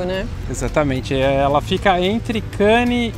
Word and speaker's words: Cannes: Eu passei a viagem inteira falando Cannes e Antibes, e realmente é sem o S. A gente pronuncia Cannes e Antibe.